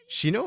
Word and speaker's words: Shino: Like watching Shino, is that how you pronounce that? And Steiner? Shino, yeah. Yeah, watching them pop in,